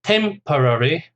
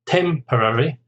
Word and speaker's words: temporary: Temporary. Temporary is 4 syllables. Stress on the first syllable. Temporary.